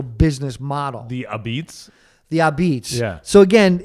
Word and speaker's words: Apizza: There was a place in downtown New Haven called Ah-Beetz. Mm-hmm. And that's how it was AH, I think, hyphen BETS or Z. How you say it? Abate. Apizza.